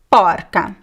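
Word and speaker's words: porca: more example porcu Porco Parker so this is the animal so you see the masculine is closed the feminine is open I don't know why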